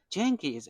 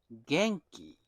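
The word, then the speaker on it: 元気: Oh jenke is actually a Japanese word I learned this week. It is pronounced genki rather than jenkei.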